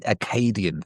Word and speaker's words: Acadian: Acadian.